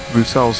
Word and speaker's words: Bruxelles: And then we head down towards the never-ending Bruxelles hairpin, named after the city of Brussels, except with the real pronunciation.